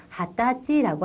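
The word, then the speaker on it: はたち: 4살, 5살, 5살, 6살, 6살이라고 쓰여 있습니다만 발음할 때는 6살이라고 발음하셔야겠습니다. 7살, 7살, 8살, 8살, 9살, 9살, 10살, 10살. 자, 20살이네요. 20살 밑줄 쳐두시고요. 20살은 하타치라고 합니다.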